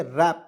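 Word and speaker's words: wrap: पे ध्यान से देखिए डब्लू आर ए पी तो वरा पढ़ेंगे नहीं व रैप नहीं पढ़ेंगे रैप पढ़ते हैं इसमें डब्लू को हम लोग साइलेंट कर यहां पे डब्लू को साइलेंट करेंगे ठीक है तो यहां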